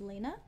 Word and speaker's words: Lena: of my own sees my name is Lena despite the spelling yes that's how you pronounce it um fun fact